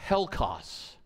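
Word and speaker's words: ἕλκος: That word foul, the Greek word is literally pronounced helkos.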